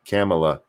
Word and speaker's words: Kamala: boring he's too boring her name is pronounced like pamela with a k camela no i know how